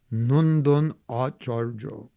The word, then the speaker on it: Nandan Acharya: Nandan Acharya. That's proper Bengali pronunciation, in Mayapur.